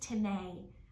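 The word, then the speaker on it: τιμή: in the Greek it is T IME it's pronounced tane but it spelled just like our English word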